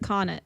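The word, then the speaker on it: Connaught: to say this word conag bar okay conag bar in London see yeah I think it's cuz a u g HT is just OD like conet okay it right con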